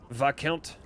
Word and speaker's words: Viscount: Oh, is there not an S in there? Or is the S just silent? Viscount.